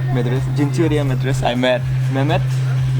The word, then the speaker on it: Madrasa: How do you pronounce it? Madrasa. Madrasa.